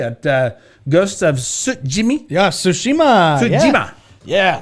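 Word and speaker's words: Tsushima: uh ghost of yeah sushima suima yeah it's pretty she told me how to pronounce it and I believe it's Su Jima okay Jima means Island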